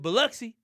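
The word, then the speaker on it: Biloxi: Beluxy.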